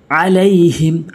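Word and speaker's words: عَلَيْهِم: চাপ দিয়ে জবর তাতা আলাইহিম আইনটা হলকের মাঝখান থেকে আলাইহিম আইন জবর লাম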